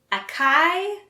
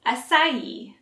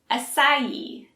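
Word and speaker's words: açaí: how to say it akai assai the correct pronunciation is acai so it's a soft c sound and make sure to pronounce the ending e acai let's practice acai acai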